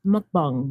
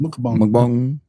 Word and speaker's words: mukbang: How do you say it? I believe it's mukbang. Mukbang. My English translation is mukbang.